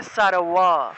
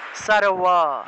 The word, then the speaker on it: সর্ব: ঠোঁট না লাগিয়ে ব উচ্চারণ করলে যে উচ্চারণটা আসে সেটাই হলো অন্তস্থ বয়ের উচ্চারণ। তাহলে সারওয়া, সারওয়া এইভাবে উচ্চারণটা আসবে।